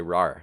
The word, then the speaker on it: rawr: was Roar and right this is r a w r you you pronounce aw as ah not oh yeah but it's a